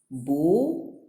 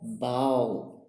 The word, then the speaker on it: bow: It's spelled the same, but it is pronounced in a different way. An example in 12a is bow or bow, right?